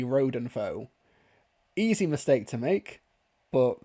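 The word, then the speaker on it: Rodenfoe: is absolutely fine but he says Ratenfo it's actually Rodenfo Easy mistake to make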